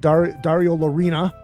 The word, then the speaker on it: Dario Lorina: In studio, I have Dario Lorina.